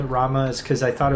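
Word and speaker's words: Ramuh: just clear this up it's pronounced ramu probably i mean i don't think it should be but i understand that it is like um the reason i i i've always called it rama is because i thought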